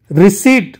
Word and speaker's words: receipt: Receipt, not received, receipt, P is silent.